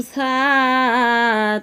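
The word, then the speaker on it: ث: সা জিহ্বার আগা থেকে নরমভাবে আদায় হবে, নইলে সিন অথবা সদ অক্ষর আদায় হয়ে পড়া হারাম হয়ে যাবে।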